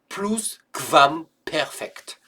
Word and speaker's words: Plusquamperfekt: Alors je sais que ça s'écrit Plusquamperfekt, mais QU c'est comme si c'était QV, donc Plusquamperfekt.